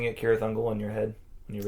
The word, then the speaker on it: Cirith Ungol: By the way, were you pronouncing it Cirith Ungol in your head when you read? No, I was saying it's Cirith Ungol. Yeah, see the hard C, right? The hard C sound.